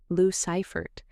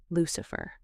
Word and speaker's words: Lou Ciphert: Lou Ciphert. She said it in her mind, running the syllables together. Lucifer.